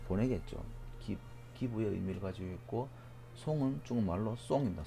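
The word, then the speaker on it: 送: 보낼 송, 예. 그 뭐 아픈 사람이 못 오니까 온 사람한테 보내겠죠. 기부의 의미를 가지고 있고 송은 중국말로 송입니다.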